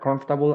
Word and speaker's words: comfortable: Pronunciation of this word, comfortable and uncomfortable, the OR, it's not going to sound, it's going to be omitted, and then you jump from the F to the T and continue, right? So comfortable, right? Not pronouncing this OR.